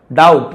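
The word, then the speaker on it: doubt: डाउट, यहां पे B silent है, डाउट नहीं बोलेंगे, डाउट।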